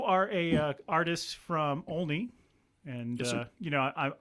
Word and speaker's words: Olney: a uh artist from olney and uh you know i i am worried that uh not many people say that right so we say olney like with an a but i'm i'm worried